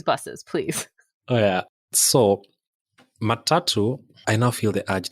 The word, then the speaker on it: matatu: ask you about I don't know how you pronounce this the matatu buses perfect I said it right yeah please tell tell me and everyone else about these buses please oh yeah so matatu I now feel the urge to explain where